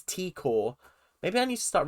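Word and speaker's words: T'kor: Tikor. I've got to remember to call her Tikor, because in my head the accent, not the accent, the apostrophe is Takor, but it's not, it's Tikor.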